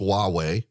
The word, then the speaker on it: Huawei: telecommunications company that uh starts with an H not a w it's pronounced Huawei and there's also ZTE